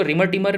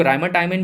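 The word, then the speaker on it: Reimer–Tiemann: ठीक है, कई लोग इसको रिमर टिमर भी बोलते हैं, कई लोग राइमर टाइमन भी बोलते हैं। तो भैया ये थोड़ा सा प्रोनाउंसिएशन की अलग अलग बात होती है।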